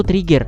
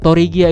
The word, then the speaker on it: Tregear: thoriqiyyah dan ada Trigger sebenarnya bacanya itu Trigger toregia itu penyebutan Jepangnya kalo admin sebuah Trigger itu kebanyakan pada ngira tega makanya agen lebih sering bilang toregia daripada Trigger nah novel tadi terdiri